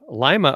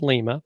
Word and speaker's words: Lima: a marketing agency in Lima, Ohio, even though it's spelled Lima, but it's Lima.